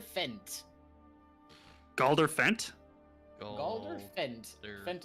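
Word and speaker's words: Fendt: Fent is spelled F-E-N-D-T. Of course it is. Fent. Okay. So it's not Fent, it's Fent.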